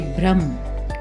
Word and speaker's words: भ्रम: गलतियों पर ध्यान दें यदि किसी अक्षर के पैर में र लगा हो जैसे भ्रम क्रम तो यहां पर भ और क यह दोनों स्वर रहित माने जाते हैं और इन्हें इनके साथ ही बोलना चाहिए और इनका जो रूप होगा वो भय जो है वो आधा होगा इसलिए भय हलंत और र पूरा भ्रम क्रम इस तरह से इसे बोला जाएगा और यदि र किसी